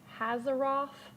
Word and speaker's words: Hazaroth: Hazaroth. Rhymes with Azeroth.